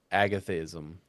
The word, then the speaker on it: agathism: So, agathism is Oh, it's a G- A T H I Sm.